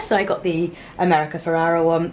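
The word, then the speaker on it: Ferrera: I got the America Ferrara one Ferreira that's how you say her name Ferreira one um Bobby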